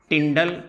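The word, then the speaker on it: Tyndall: इस फिनोमिनन को कहा जाता है टिंडाल इफेक्ट। यहां पर this phenomenon is known as टिंडल effect या टिंडाल इफेक्ट, जो आपको अच्छा लगे आप प्रोनाउंस कर सकते हैं।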